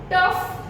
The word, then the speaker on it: tough: In these words, the word GH is given, letter GH is given. But though the sound of the letter GH is over here, we pronounce it as F.